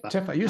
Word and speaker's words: TiFi: so nice ti ti Tiff you say tiffa nobody said it like that T I always say Tiffy oh I'm saying it wrong then maybe no no no so you can say it either way long as you